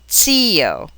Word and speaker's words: zio: A single Z that begins a word may be given a TS or a DZ sound, as in zio or zio.